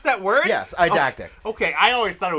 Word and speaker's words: eidetic: you pronounce that word? Yes, eidetic. Okay, I always thought it was edict.